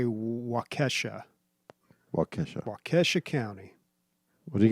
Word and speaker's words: Waukesha: How about you fuck right off and we find out by a Waukesha night?